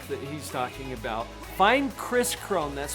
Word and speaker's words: Kris Krohn: Hey, you guys, if you want to learn more about this hack that he's talking about, find Kris Krohn. That's spelled with 2 Ks.